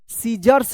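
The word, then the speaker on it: scissors: देखिए यहां पर एस सी I double S ओ आर एस क्या पढ़ेंगे इसको? सीजर्स पढ़ेंगे। सीजर्स यहां पर देखिए सी जो है ना साइलेंट है क्योंकि एस के जस्ट बाद क्या है?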